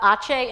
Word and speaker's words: Aceh: And where you see Medan, and then up above Banda Aceh, in Indonesian language, C is always pronounced ch.